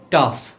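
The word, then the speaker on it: tough: টাফ।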